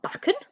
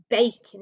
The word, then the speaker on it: bacon: make an a sound it's not buckin it's bacon isn't it letter a on its